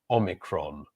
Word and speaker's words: Omicron: And the pronunciation is Omicron. Omicron. Omicron. And that's certainly how we pronounce it in English. Omicron is the 15th letter of the ancient Greek alphabet.